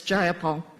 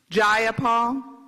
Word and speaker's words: Jayapal: you agree with miss jayapal that there was no takeover it was just paul if you're going to say my name please say it right it's jayapal jayapal do you would you